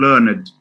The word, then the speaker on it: learned: Ed, yes, and learned. Learned. The learned. It's not the learned.